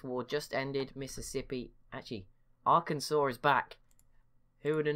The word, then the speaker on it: Arkansas: give up Arkansas instead nailed it again second time in less than a minute got it I've got it now I've got to say it right loads of times while they're still alive to make up for the people times I got it wrong in the first five episodes I'm sorry but to be fair like I don't know how you get that from how it's spelt but whatever well we